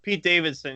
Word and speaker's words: Pete Davidson: did some shit, Pete Davidson, yeah. and The her other comedian. boyfriend I thought you were died. saying Mac Miller. Pate Davidson, as I like to mispronounce names.